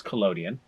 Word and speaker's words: collodion: So this is wet plate collodion. Excuse me. I need to say it correctly with this. It's collodion.